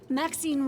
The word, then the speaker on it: Maxine: Maxine rhymes with queen, after all, and dearest.